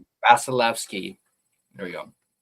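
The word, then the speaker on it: Vasilevskiy: Gujarov and Bas I can't I can't even pronounce Basilki. Vasilki.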